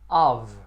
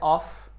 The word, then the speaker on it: of: A número 1, a preposição mais usada em inglês é of. Lembrando que está escrito com a letra F, mas o som é da letra V. Of. Não é off, e sim of.